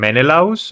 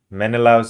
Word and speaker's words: Menelaus: Yes, And Menelaus?